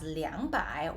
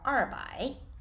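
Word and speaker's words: 两百: be pronounced as so you have the choice of pronouncing 200 as liangbai or rbi all right let's go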